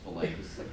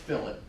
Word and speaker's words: fillet: is not delay smelled like fillet is not pronounced fillets different words it's pronounced Philip if you call it fillet people probably laughing